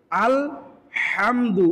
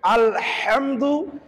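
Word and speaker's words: الحمد: কি করে পড়তেছি আলহামদু এই হাটাকে কন্ঠনালী চাপ দিয়ে আমাকে উচ্চারণ করতে হবে এটা বারংবার বারংবার যখন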